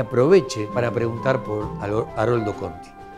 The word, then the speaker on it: Conti: Empezó como groseramente a equivocarse con el nombre de Conti, Corti, Kirki, Corki. Decía, ya, para, ¿cómo quiere que pida por alguien que ni siquiera se pronuncia bien su nombre?